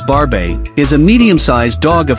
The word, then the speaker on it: Barbet: comes to shedding 9 barbit varvit pronounced as barbae is a medium-sized dog